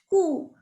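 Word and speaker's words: coup: It is not almond, it's almond. The L is silent over here.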